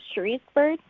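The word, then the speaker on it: Cherice Byrd: i'm your host emma luzchak i'm here with sheri's bird welcome thank you now i'm hoping i get your name pronounced correctly uh yeah it's from sheriff's bird now you have the children's book abc what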